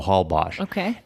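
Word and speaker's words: Holbox: recently discovered called hbos it's spelled h box so that X is Ash so Hal bash and it is a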